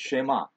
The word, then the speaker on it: Shema: i say this quickly you'll hear people say shema but the emphasis is on the last syllable and i would i guess maybe the first part is a uh what should i say a strong vowel but it's shema and